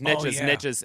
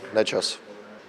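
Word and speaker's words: Nečas: Marty Nachos, Nechas, or as Bednar says, Nekash. Yeah. Well, here's straight from the source. Martin Nechas. Martin Nechas. So it's sort of a combo of what we do and what Bednar does, right?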